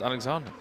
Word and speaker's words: Alexander: Alexander is pronounced Alexander.